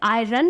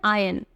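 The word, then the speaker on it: iron: रख दो next आयन बहुत सारे लोग इसे आयरन प्रोनाउंस करते हैं वेल इसकी सही प्रोनंसिएशन है आयन आयन example आयन close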